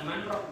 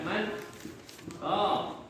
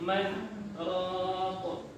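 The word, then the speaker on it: مَنْ رَاقٍ: Sebab kalau dia digabung jadi bukan manrok bacanya. Kan man roh ya. Nah, betul. Jadi marroh ya. Jadi bukan, tapi man roh.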